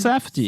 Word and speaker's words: Safdie: Como é que é a pronúncia do nome? Safdie.